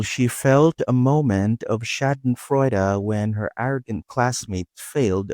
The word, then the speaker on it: Schadenfreude: How do you pronounce this? It's Shadon Freud.